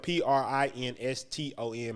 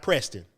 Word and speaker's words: Prinston: My name is spelled Prinston. My mama didn't spell it like the school. And it's not Preston. Y'all stop that. Stop doing that.